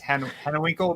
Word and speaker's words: Hanewinckel: How do I pronounce the last name? Hanewinckel. It's Hanewinckel, but you can use it.